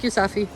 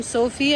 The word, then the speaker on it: Safi: Thank you, Safi. See, I was calling him Sophie and he didn't even correct me.